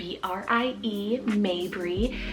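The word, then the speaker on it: Maybrie: and it means rival May breathe spell m-a-y-b-r-i-e Mabry this one could be probably spelled a few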